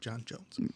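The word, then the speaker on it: J'onn J'onzz: John Jones. But it's spelled like J''ONN, the Martian way. Right. The way it's spelled. The Martian way of English. Of spelling John Jones.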